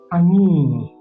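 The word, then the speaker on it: ayin: In terms of sound, we mentioned that it is silent. Our ani is silent.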